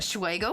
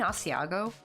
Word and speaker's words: Asiago: Godiva but then again he also pronounced um aago dressing as aego for like years and it's like I pronounce it like that and someone stopped us like don't you mean Asiago it's like I swear